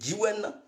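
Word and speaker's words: Djiouen: Donc, Gyiwen s'écrit, Gyiwen s'écrit D-J-I-O-U-E-N. C'est Gyiwen.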